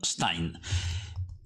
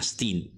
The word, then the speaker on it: Stein: si chiamava John Stein Tra l'altro credo che nella versione scozzese la pronuncia sia qualcosa di più simile a Stin Ma questo aspetto io lo lascio a qualcuno fra di voi che sia talmente abile da dare suggerimenti io lo pronuncerò all'inglese John Stein detto jck Chi era